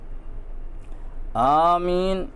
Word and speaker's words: آمین: نہیں ہے، دعا ہے۔ آمین، حمزہ کو مد اصلی کے ساتھ تلفظ کرنا زیادہ اولیٰ ہے، اگرچہ اس کے بغیر بھی درست ہے۔ بسم اللہ الرحمن الرحیم،